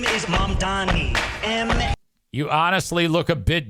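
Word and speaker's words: Mamdani: The name is Mom Donnie.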